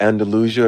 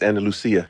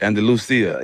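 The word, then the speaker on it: Andalucía: Andalusia. Are you from Spain? It's Andal Lucia. Andalucia.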